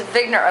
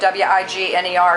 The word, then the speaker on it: Wigner: bodies and it causes the Wigner effect this pronounced Vigna effect but it's spelled wi GN ER so we pronounce it Wigner where I'm from it was discovered by dr.